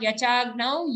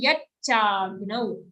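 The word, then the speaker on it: यच्चाग्नौ: Again, not yachagnau, yatchagnau. And here, after cha, we have a gnau sound, half ga joined to a nau.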